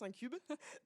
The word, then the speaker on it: InCube: Alors, moi, je le prononce un cube.